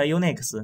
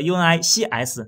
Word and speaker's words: UNICS: 家都读它 Unix，但是 UNIX 和 UNICS，对，其实发音是一样的。